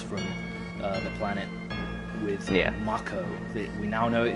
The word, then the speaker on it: Mako: the life force from uh the planet with Mako that we now know it is pronounced Mako I even though I have always